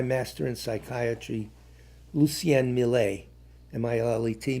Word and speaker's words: Millet: I met my master in psychiatry, Lucien Millet, M-I-L-L-E-T, Millet, you pronounce it that, or Millet, who was what was known as a humanist psychiatrist.